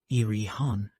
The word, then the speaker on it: Erewhon: to be understood that uan is pronounced as a word of three syllables all short thus Ian preface to Second Edition